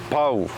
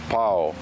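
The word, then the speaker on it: pau: is often mispronounced as pow or pow so it's not pow it's a PO so focus on those two vowels of the A and the U when you put them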